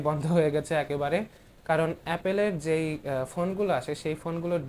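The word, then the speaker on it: Apple: Sorry, অ্যাপল বললে অনেকে বলবে যে আমি উচ্চারণ করতে পারি না। আসলে বাংলাদেশে অনেকে এভাবে উচ্চারণ করে, তাই করছিলাম, অ্যাপেল বলবো এখন থেকে।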